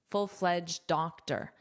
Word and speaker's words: full-fledged: Now notice this ed is a very soft d. full-fledged D. Full-fledged full-fledged doctor.